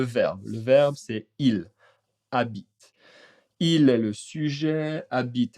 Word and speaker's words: habite: Le A, attention, le H n'est pas prononcé mais A est une voyelle.